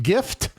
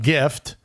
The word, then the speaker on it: GIF: like gift so it's it's a soft G or a hard G I say it's a hard G it's a gift g g not JJ uh because you look